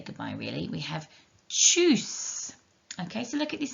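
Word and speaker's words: Tschüss: the ooh sound from the u with the uml so all together it is choose and there's a longer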